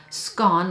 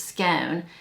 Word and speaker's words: scone: So to me, this smells like a white flour scone, like a Datura scone or scone. In Texas, we pronounce it as scone.